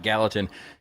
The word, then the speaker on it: Gallatin: You know, we got to pronounce it Gallatin.